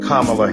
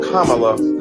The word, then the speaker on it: Kamala: insisted upon misnaming mispronouncing kamla Harris do you call Melania Melania do you call Ivanka Ivanka then call Kamala Kamala then call vice president